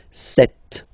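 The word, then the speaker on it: sept: all right then here remember B is not pronounced okay doesn't exist so you got this set sound set set okay then here final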